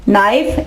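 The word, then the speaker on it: knife: नाइफ, इसमें भी के साइलेंट, इसमें भी के साइलेंट, इसमें भी के साइलेंट, और इसमें डी भी साइलेंट होगा।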